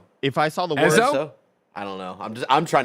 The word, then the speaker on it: Ezo: it's definitely not Izo. It's not Ezo that. looks like what people. Ezo. It's got to be Ezo.